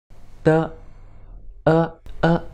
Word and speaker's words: 的: As you can see, there is a new word 的 d e (no tone mark, means it’s a neutral tone) no tone mark, it means it is a neutral tone de This word is one